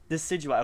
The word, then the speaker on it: Decidueye: Decidueye.